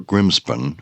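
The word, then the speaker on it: Grimspound: hut circles and uh Grimsound or Grimspun as it's uh pronounced on Dartmore may well have influenced the name of Grimpen which we know as associated with the great Grimpen Meyer.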